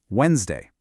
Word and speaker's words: Wednesday: Now, careful with this next one. The D is totally silent. Wednesday, Thursday, Friday, Saturday, and Sunday.